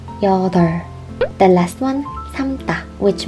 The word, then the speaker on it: 여덟: It means number 8 in English, and we pronounce this as 여덟. 여덟. We remove the b sound. 여덟.